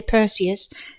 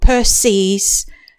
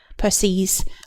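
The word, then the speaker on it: Perses: myths she married Peres I can never say his name right because I always end up wanting to say percus and he's somebody else but Peres the Titan I believe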